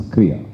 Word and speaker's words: Krya: So the way we pronounce is Krya. Krya.